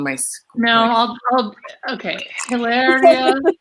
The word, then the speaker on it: Hilaria: Hilaria Baldwin. It's like hilarious.